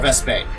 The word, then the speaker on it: Vespene: There are minerals and Vespene gas, or Vespene, either way. SCV ready. So, how's that actually spelled? It's spelled Vespene, but a lot of people say Vespene.